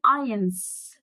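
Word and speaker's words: eins: المهم يبقى 0 يعني نول أو 0 يعني نول، 1 يعني اينز. سمعت أنا قلت إيه؟ اي مش إنز، لا اي ارجع بقى للقواعد النطق اللي فاتت شرحناها.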